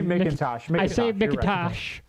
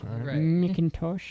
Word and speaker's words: McIntosh: back back in time you're gonna say Macintosh well you can't say listen you can't you can't tell me how to pronounce my people's names McIntosh willing to block us